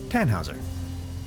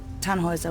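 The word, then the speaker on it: Tannhäuser: why what's your name Tannhauser we pronounce it Tannhauser with an umlaut German roots yes my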